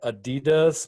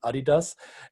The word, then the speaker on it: adidas: we have adidas or as americans say adidas but it's trust me it's adidas and the other company